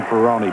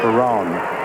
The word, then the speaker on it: Ferroni: Dan Ferroni pronounces his name Ferroni, but we've been through this with him before. He said, I know a lot of people will pronounce it Ferrone, but it really should be Ferroni.